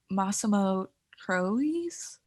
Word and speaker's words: Massimo Troisi: He was nominated against Richard Dreyfuss, Anthony Hopkins, Sean Penn, and I forgot to look up how to pronounce his name, but it's Massimo Troisi.